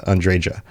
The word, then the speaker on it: Andreja: game pronounce the J Andrea um it does look like one of those names where the J might be an H sound but most people I